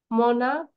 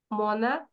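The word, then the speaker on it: monarch: ক এর মত হয় সিচ আছে যদি যদি উচ্চারণটা ক এর মত হয় সেই ক্ষেত্রে সিঙ্গুলার নাউনের শেষে শুধু এস যোগ করবো যেরকম মনাক মনাক্স এই যে সিএইচ টা ক হয়ে যাচ্ছে ক্যা মনাক মনাক্স স্টমাক স্টমাকস স্টমাক মানে কি পাকস্থলী না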